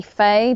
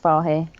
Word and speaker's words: Fahy: he listens to this, it's actually Faye. They get quite upset if it's pronounced Fahy. Fahy's a nicer sounding thing, though. I agree, but it is actually Faye. It's Celtic. Gaelic, actually.